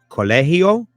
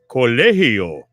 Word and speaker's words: colegio: So pronounce the G as an H. Colegio? Is that it? Colegio. Is that right? Colegio.